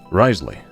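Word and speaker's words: Wriothesley: Risley, as I believe his name is pronounced, from Genchin Impact 1.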